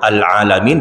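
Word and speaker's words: العالمين: Al-alamin dibaca al-alamin. Al-alamin itu artinya apa Pak? Sakit-sakitan Pak. Pakai hamzah. Kalau pakai ain Pak, baru semesta alam.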